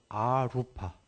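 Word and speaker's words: arūpa: 루바 ru 이게 색이예요 거기에 맨 앞에 a 알파벳 a 붙으면 아라고 발음하는데 아루파 여기 연필 좀 있나요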